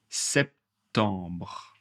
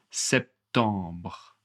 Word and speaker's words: septembre: Septembre. septembre. Alors, je vais prononcer le B et le R, mais je ne ferme pas la bouche. Par exemple, septembre, vous voyez, je finis avec le R septembre.